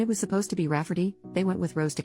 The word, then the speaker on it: Rayfarty: to name my niece Rayfarty, pronounced Rafferty, not at all like Rayfarty.